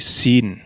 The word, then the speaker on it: sin: Dan jika titiknya di sebelah kiri, Shin akan menjadi Sin yang berbunyi S seperti S dalam bahasa Indonesia.